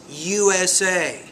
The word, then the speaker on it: USA: program when you say USA it's not USA but you want to pronounce whenever you do abbreviations each abbreviation should be pronounced equally with equal stress USA UAE CEO MBA so